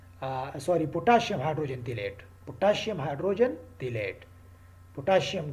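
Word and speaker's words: phthalate: तीसरा क्या यूज़ कर सकते हैं, सोडियम हाइड्रोजन तिलेट, सोडियम हाइड्रोजन तिलेट, और उसमें वो पी से स्टार्ट होता है, पी उसमें साइलेंट है, उसका एब्रीवेशन है sorry potassium hydrogen तिलेट, potassium hydrogen तिलेट, potassium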